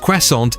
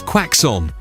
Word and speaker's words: croissant: Tom recounts his viral moment from the In the Heart of the Sea press tour where he mispronounced croissant as quackson.